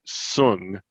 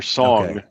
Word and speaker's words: Soong: For the record, okay, it's Dr. Noonien Sung or Song, and it's spelled SOONG.